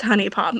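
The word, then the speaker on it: HuniePop: to pronounce Pokemon names is it hunie pop or Honey Pop I've always said Honey Pop it's it's it's Honey Pop but I say honey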